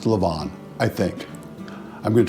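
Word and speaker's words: levain: I've been saying at 11 and it's really Lavon so the concoction we make from our starter is pronounced Lavon I think I'm going to try and do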